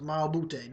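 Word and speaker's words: Mbah a Moute: Mal Bute, that's how you say it.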